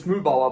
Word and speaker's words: Mühlbauer: So it's Mühlbauer, but this is like a very typical German name.